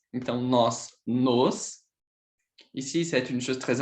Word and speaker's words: nos: Et ici, c'est nos. Donc, ce sont des mots, sont différents. Et c'est très important, cette prononce de le O qui est différent.